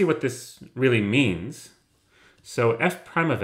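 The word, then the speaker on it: f′: is called F Prime this is how you pronounce it you say F prime given by the formula F prime of X is equal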